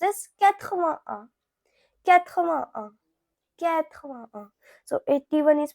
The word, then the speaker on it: quatre-vingt-un: Now 81, it is pronounced as quatre-vingt-un.